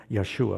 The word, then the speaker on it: Yeshua: they substitute the name Yeshua which Yeshua would be the Hebrew way to say his name which is Joshua but God expects us